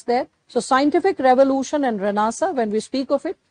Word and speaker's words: Renaissance: struggles with spellings, try to remember the correct pronunciation, it's Renaissance. But when you have to remember the spelling, it's Renaissance. That's how I used to like remember. Renaissance, pronounced as Renaissance.